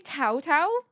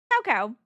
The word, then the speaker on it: Cao Cao: Dynasty Warriors who I would have called Cao Cao and it's spelled c a o. It's actually Tao Tao. But I never would have known that. I innocently in my head was like Cao Cao. It's not Cao Cao.